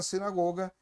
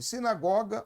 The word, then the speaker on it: sinagoga: olhos de todos na sinagoga estavam fitos nele. Sinagoga ou sinagoga? Há essas duas pronúncias.